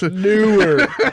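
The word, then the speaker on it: Neewer: Newer.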